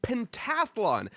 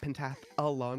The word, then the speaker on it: Pentathlon: We are here for the PXN Pentathlon as we have decided that is how is pronounced. Of course, not Pentath Alon.